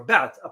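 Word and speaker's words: Baath: with the Arab socialist bat party or bat a party that's how pronounced in Arabic bath party which were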